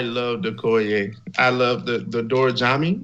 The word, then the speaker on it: Dora Milaje: I love the Dora Jami. Is that how you pronounce that whole like Dora Milaje? Dora Milaje. Yeah, that's what it is.